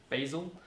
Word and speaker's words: Bazel: basil it is pronounced basil it's this is from basil's web page frequently asked questions it says it's pronounced the same way as the herb but in australia we